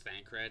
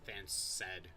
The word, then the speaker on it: Thancred: You know, before this game, I never knew how to pronounce Thancred. I always pronounced it like Thanced.